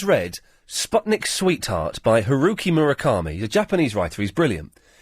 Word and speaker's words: Murakami: if anyone has read Sputnik Sweetheart by Heruki Murakami a Japanese writer he's brilliant it's a fantastic